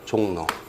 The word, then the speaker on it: 종로: 발음을 쓰는 거죠. 종로. 이렇게 발음나잖아요. 그러니까 J-O-N-G-N-O 써야 되겠죠. N-O. R로 쓰거나 그러면 안 돼요.